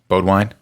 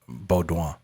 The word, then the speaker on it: Beaudouin: What were you saying? Beaudwine? No. Beaudouin. Beaudouin.